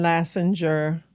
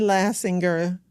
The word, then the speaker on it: Lastinger: VR champion, but we did have the Allen Lasser Lassinger Center. I say it wrong all the time. The Allen Lassinger Center for Florida History opened um last month.